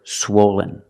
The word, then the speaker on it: swollen: swollen is an adjective for the first syllable use the long o like no and go swo swen swollen the second syllable is not stressed it sounds like this Lin Len swollen swollen the adjective is swollen